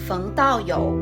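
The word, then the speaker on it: Daoyou Feng: fung dao yo was an employee at yang's asian massage she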